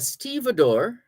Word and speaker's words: stevedore: A stevedore, that's spelled like Steve for the first part of the word, the first Steve, Steve, Steve, Steve, and then Dore.